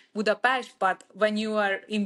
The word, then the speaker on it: Budapest: to American people it's like beast but at home it's Buddha PES but when you are